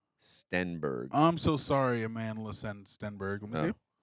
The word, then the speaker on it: Stenberg: I said Amanda Steinberg. It's Amanda Stenberg.